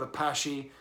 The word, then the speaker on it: Apashe: there's my review of Apache a passion album honey sauce honey so I should pronounce it the French Way I mean he's Belgian